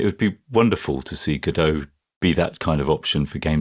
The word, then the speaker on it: Godot: And it would be wonderful to see Godot be that kind of option for games development. And I think it will. I see we've reverted to the American pronunciation of Godot now, to Godot. What is it?